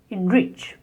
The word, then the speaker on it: enrich: The next is enrich. Here the main word is rich, and en is a prefix. So in such words, the prefix is spoken as in, and the stress on the main word, enrich.